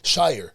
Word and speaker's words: Shier: mean most people mess up and say sheer just like you did but oh my God